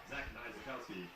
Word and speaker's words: Niezlakowski: And since I keep saying it wrong, we back up and say number 47, Zach Niezlakowski.